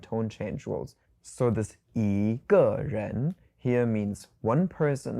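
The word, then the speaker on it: 一个: Yīgè. Yīgè. So, there's a little bit of a tone change here. So, it becomes to the second and the fourth tone together yīgè.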